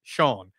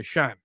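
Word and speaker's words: Seán: would be Anyway, is spelled S E A F N. So, that's a little F over the A and then it sounds like Shawn or what we'd say Shan.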